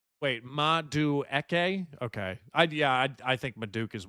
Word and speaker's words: Madueke: Yeah, I think it is Maduke. Wait, Madueke?